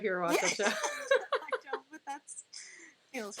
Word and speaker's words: Giobbi: And a lot of times people think I'm saying G-O-B, like gob. So then people pronounce it like God. Yeah. I'm like, no, I'm not spelling it out. Or I'm like LP, Job from Arrested Development.